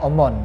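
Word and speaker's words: ОМОН: common walaupun hanya NY itu seperti H Tapi bacanya omon dan itu adalah salah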